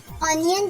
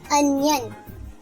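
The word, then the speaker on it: onion: लेकिन अक्सर लोग इसकी प्रोनाउंसिएशन मिस्टेक में इसे ऑनियन कहते हैं। करेक्ट प्रोनाउंसिएशन है अनियन।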